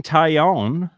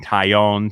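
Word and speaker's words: Taillon: a pickup yankees acquired jameson tyonne is how i was told to say his name everyone said italian taiyon tie-in uh so we'll we'll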